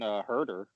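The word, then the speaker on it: Huerter: Then if you have Bogdanovich off the bench with Gallinari, we didn't even mention Herder. Is that how you pronounce it? No, yeah, Kevin Werder.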